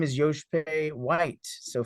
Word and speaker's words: Joshpae: location uh Yankee whiskey because my name is Yosh pay white so phonetically Yankee whiskey actual there you go and